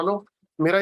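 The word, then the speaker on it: लं: अब रूट चक्रा का एक बीज मंत्र भी है जिसे कहते हैं लम, LAM, लम। तो अपने मोबाइल के ऊपर आप उच्चारण लगा सकते हो उसका, जैसे वो बोलते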